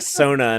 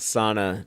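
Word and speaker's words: sauna: that movie everyone yeah you have to say it like Sona not SAA to you piss off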